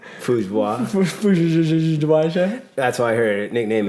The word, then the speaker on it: Fujiwara: Is that how you pronounce her last name? Fujiwara.